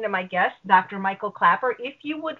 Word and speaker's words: Klaper: c t o r Clapper has one p with a k k l a p e r and if you want